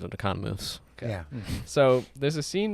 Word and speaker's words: Economos: Well, he pronounces it Economos.